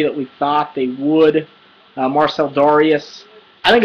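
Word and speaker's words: Marcell Dareus: His name is actually Marcel Darius.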